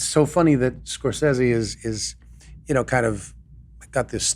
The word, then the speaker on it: Scorsese: today after that Martin Scorsese. Am I saying it right? Because I say Scorsese, and you said Scorsese. Scorsese is how we were always taught to pronounce it when we were doing Goodfeathers.